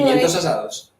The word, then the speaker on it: Pimientos asados: So Pimientos asados.